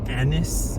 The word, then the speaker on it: Agnes: Shakespeare and his wife, they call her Anis, anise. Anise almost felt like Agnes like Agnes, but I guess they pronounced it that way.